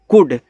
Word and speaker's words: could: COULD, देखो इसको पढ़ते हैं कुड। अब जिनको नहीं पता इसको कुल्ड पढ़ देते हैं, यहाँ पे इसका उच्चारण नहीं होता यल का, सिर्फ आपको कुड पढ़ना है बस, ऐसे कु और डी